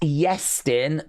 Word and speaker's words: Yestin: It's pronounced Yestin, but with a letter I.